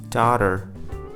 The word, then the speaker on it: daughter: Water, daughter, matter, potter. Did you spot this? When the T appeared in between two vowels, then the T was acting like a flap T, or you can simply put, it was acting like a D.